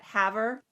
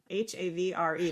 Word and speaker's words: Havre: all the names right do you remember that Haver h-a-v-r-e they were like don't dare pronounce it Haver or Havre you have to pronounce